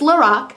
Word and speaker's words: Lorac: It's Lorac um, unzip palette and uh, you get a behindthescenes eye primer, which is one of my favorites.